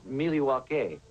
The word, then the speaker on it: Milwaukee: Actually, it's pronounced Miliwake, which is Algonquin for the good land.